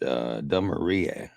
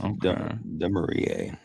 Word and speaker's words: Demarie: The pronunciation I was given was Demarie. Pronounced Demarie.